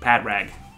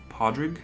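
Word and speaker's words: Pádraig: drake or podrick podrick podrick is irish for patrick patrick really yeah padraig podrick pardrik so you see the truth the father gives it that r sound like shawn podrick changes the sound of the a are you sure is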